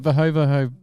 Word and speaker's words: Verhoeve: V because I know he Verho? hates- Isn't it Verho? Or is it Verhoeve?